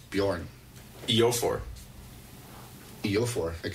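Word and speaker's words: Björn: like a J like like a Bjorn that's pronounced with a Y as Y Bjorn yo for feel for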